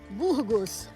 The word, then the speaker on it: Burgos: How do you pronounce it? Burgos.